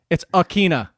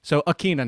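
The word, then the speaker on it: Ikhine: the definitive answer do you know how to pronounce nick westbrook the last part it's akina okay uh so it's uh uh same uh at both ends and it's keen as the enunciation in the middle so akina now you know nick westbrook akina if julio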